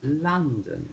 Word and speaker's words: London: in london london yes the o once again is pronounced like the letter u like in my month so london yes and um is john